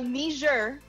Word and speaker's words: Niger: Nigeria gained independence from UK, while Niger, independence from France. That's why the pronunciation is Niger. It's French. French. It's a French colony.